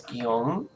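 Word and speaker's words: Guillaume: really overweight right now that was gyeong that's how you pronounce that name by the way guillen which is french for william i know because i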